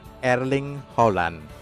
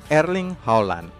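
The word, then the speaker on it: Erling Haaland: bagaimana coba caranya bootnya yang benar-benar Hai cara pronunciation yang benar agar ring Holland erling Holland erling Holland Holland sudah menyumbangkan 12goal untuk Dortmund pada musim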